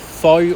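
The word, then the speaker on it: phở: local Vietnamese cuisine the food out there is very tasty and you probably would have heard of fo or f as they pronounce it in Vietnam definitely try some f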